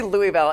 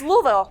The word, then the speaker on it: Louisville: in Lou I say I say Louisville and they hate that it's Louisville it's Louisville Lou Louisville yeah I just like saying it like Louisville Louisville Louis Slugger our